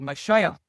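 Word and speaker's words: משיח: He studies the Hebrew, but Mashiach is is uh how you pronounce it.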